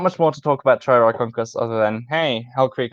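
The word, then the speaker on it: Trierarchuncus: Hell Creek Alvarezsaur, Triarchunkus, which many people have said could also be pronounced Triarchunkus. Oh yeah. Please go jump into a fiery pit. Yes, those people are objectively wrong, but Triarchunkus, which means, are you ready for it?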